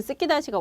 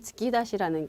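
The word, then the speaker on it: 突き出し: 근데 그 스키다시가 원래는 츠키다시라는 거. 그래서 그것도 발음이 조금 달라서 우리한테 전달이 됐다라는 거 정도로 보시면 여러분이 확 와 닿으실 것 같아요.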